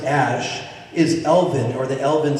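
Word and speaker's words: Æ: the colloquial English language AE you pronounce it Ash and then his last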